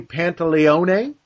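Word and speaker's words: Pantoliano: great part in this this is Joey pantalon I believe this is the actual SP pronunciation of his full name but everybody calls him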